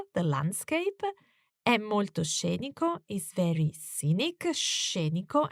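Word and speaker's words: scenico: landscape is very Scenic sheniko and watch the sound of this adjective with the emphasis on the first syllable shape and it doesn't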